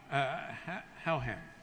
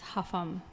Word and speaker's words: Houghton: Houghton, Howham. I hope I pronounced that correctly. No, everybody mispronounced that, and it's Huffam. Huffam.